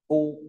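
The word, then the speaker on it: 夫: Thiên mà thò đầu ta sẽ có chữ này đọc là phu ta cùng đọc phu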